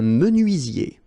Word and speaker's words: menuisier: Un menuisier. Un électricien. Un plombier. Un maçon. Un agent immobilier. Un opticien. Okay, so let's see them one more time. Un menuisier. Remember this UI. UI. Menuisier.